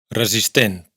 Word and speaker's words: resistent: Z z s cosa cosa mesura medida resistent aquí fijaos en que la primera s es sonora y la segunda es sorda. Resistent.